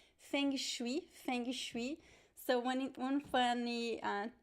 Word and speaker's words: feng shui: is that we uh we pronounce the g right so in portuguese whenever we have a consonant that is left by itself at the end of a word in brazil we we tend to add this e sound at